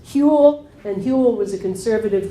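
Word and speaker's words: Whewell: Huell and moral philosophy so it's so that's pronounced Huell and Huell was a conservative christian cleric who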